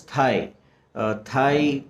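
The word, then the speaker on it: Thầy: is also known as thai pronounced as in thailand thai that's the short form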